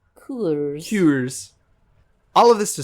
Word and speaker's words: Coors: I think it's pronounced Coors.